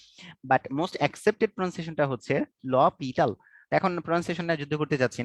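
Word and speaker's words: L'Hôpital: এটার মানে বানানটা এরকম, বাট প্রোনাউন্সিয়েশনটা একটু ডিফারেন্ট। ল পিটাল, ঠিক আছে, এটা হচ্ছে প্রোনাউন্সিয়েশন। যদিও এটা আমি ডিফারেন্ট জায়গায় ডিফারেন্ট ভাবে প্রনাউন্সিয়েট করতে দেখছি, বাট মোস্ট অ্যাকসেপ্টেড প্রনাউন্সিয়েশনটা হচ্ছে লপিটাল।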